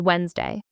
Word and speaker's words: Wednesday: Many people say Wednesday, but the correct way is Wednesday. The D and the NE are completely silent.